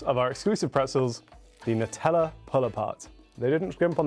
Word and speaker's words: Nutella: Yes, I'm pronouncing it Nutella, not Nutella.